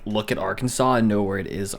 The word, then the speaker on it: Arkansas: But you don't pronounce the S at the end. It's Arkansas, technically. But we pronounce it Arkansas.